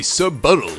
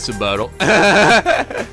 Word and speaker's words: subtle: Not very subbuttal of you. Well said, Gandhi. Oh, thank you. I have been doing research research lately. Been studying the doodle the diction. Wow. Hey, you brought it up. Wait, what? What did you just say? You said subtle. Did you think the word subtle is pronounced subtle?